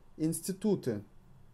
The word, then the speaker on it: институты: Институты. With the emphasis on U.